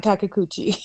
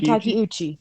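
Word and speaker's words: Takeuchi: how to say this it's not takauchi it's Taki II Ricky takiuchi yeah um and he was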